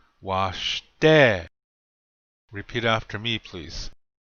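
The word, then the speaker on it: wašté: Washte. We should all know what this means by now. This means good. Notice the accent is on the second syllable. Washte. Repeat after me, please. Washte.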